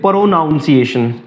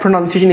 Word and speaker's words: pronunciation: प्रोनाउंस करते हैं तो वो कहते हैं प्रोनाउंस एशन तो इट्स a English word it's not English vocabulary English प्रोनंसिएशन तो द the correct प्रोनंसिएशन इज फ फ फ